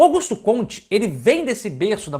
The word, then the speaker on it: Auguste Comte: P ou Alguns falam a gente funciona no Brasil a gente conte Augusto Comte mais um correto mulher francês Essa é a pronunciar ontem mas isso aí não tem